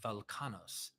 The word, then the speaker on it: Welchanos: as Welchanos, pronounced Velkanos, is potentially a dialectical version of the Sanskrit Balakana.